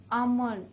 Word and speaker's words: almond: The right pronunciation is almond. L has to be silent here.